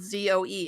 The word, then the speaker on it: Zoe: listen, where I'm from at least, even when it's spelled Z-O-E, it's still pronounced Zoe.